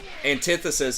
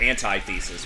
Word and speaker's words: antithesis: that one for sure people call it antithesis but the pronunciation changes because there's more syllables people say it's like anti-thesis but it's like no it's antithesis double kill maybe that